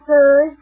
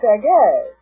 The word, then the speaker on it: Sergei: Prelude by Serge Rachmaninoff. Serge Rachmaninoff, huh? Well, that's what it says here. Oh, it's pronounced Sergei.